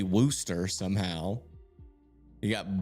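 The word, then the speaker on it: Worcester: Got Woo Chester, which is apparently Worooster.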